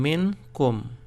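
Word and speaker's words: منكم: So to pronounce it, you have to separate these two syllables between the two capital letters. So you pronounce it by saying min kum.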